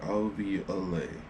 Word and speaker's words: alveoli: LV Olay into the that's how you pronounce it I'll be away into the blood and